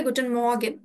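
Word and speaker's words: Guten Morgen: এটা গুটেন মর্গেন গুটেন মর্গেন এভাবে স্পেলিংটা করবেন প্রোনাউন্সিয়েশনটা হবে গুটেন মর্গেন গুটেন মর্গেনটা এভাবে বলবেন যদি সকাল 10:00 টার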